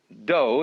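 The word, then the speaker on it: 道: the science of Judo doe is the way the Japanese pronounce Dao ju means gentle Judo The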